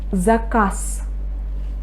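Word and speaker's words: заказ: Zakaz. Zakaz. Can you hear? I say zakaz. I pronounce the unstressed. I pronounce the voiceless consonant s instead of z.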